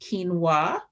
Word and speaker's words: quinoa: millet quinoa which looks like quinoa but it's pronounced quinoa uh oats barley whole grain pasta and i